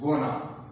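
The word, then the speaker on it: gonna: बी गोइंग टू इट is informally pronounced गोना। Informally इसको गोना pronounce किया जाता है, लेकिन ये इनफॉर्मल है।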